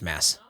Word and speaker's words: Mads: like anything um yeah michael looked up mass mickelson and showed me that it's pronounced mass coming from mads himself wait wait a minute